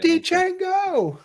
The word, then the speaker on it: Django: Damn you Django. Incredible guy. The D is silent.